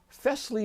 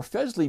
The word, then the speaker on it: Fesley: pronounce their name and I was told that it's kind of like Presley like Elvis Presley but with an f um and I can't